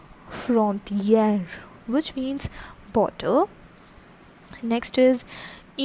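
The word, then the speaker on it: frontière: an accent graph r e okay so the pronunciation is frontier frontier which means bottle next is which is station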